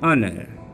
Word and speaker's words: honor: Here is exception is consonant H is silent, so we used an or an honor.